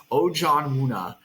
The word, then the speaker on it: Ojianwuna: this cycle in Josh Ojan Wuna. Uh take note of that pronunciation out there, listeners. Ojan Wuna.